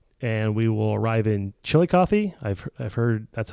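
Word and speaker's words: Chillicothe: grade of 5.8% and we will arrive in chili coffee I've I've heard that's how you pronounce it some say chili cth but I've told by the locals it's chili Cy so okay if I'm wrong I apologize no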